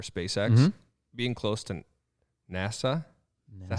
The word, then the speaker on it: NASA: being close to NASA.